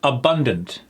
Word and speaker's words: abundant: If it's on the second syllable, you're absolutely correct.